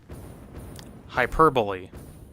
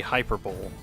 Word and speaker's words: hyperbole: Hyperbole. I hate hyperbole because you look at it and everybody's first instinct is to say hyperbole. Because that's how it looks like it's spelled, but it's hyperbole.